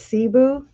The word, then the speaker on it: Cebu: it's called Cebu I even got him to pronounce it for me not him but the thingy Google and it's Cebu Philippines okay that's why I've been putting out